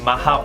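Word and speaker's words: Mach: 이때 소리의 속도를 우리는 마하 1이라고 얘기를 하죠. 미국 발음으로 마크 1이에요.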